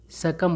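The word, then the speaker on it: succumb: बी का उच्चारण नहीं किया जाता है, सकम पढ़ा जाता है।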